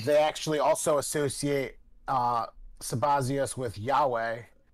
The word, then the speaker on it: Sabazios: um I do you guys recall this this sabazios person I do not somebody else thank you sabazias I did think I was saying it wrong